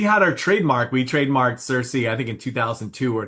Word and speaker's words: Sirsy: My little sister called me Cersei, and we just spelled it phonetically.